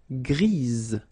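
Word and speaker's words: grise: Don't pronounce the s but then for the feminine form grease. Remember grease. All right. So when you add this uh basically it gives you the pronunciation or the possibility to pronounce the previous letter here. It's z g.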